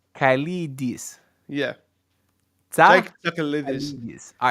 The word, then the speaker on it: Tsakalidis: Say it properly. Jake Tsakalidis. Jake Sakidis. No, say Tsa Kalidis. Kalidis. Yeah. Tsa Jake Tsakalidis.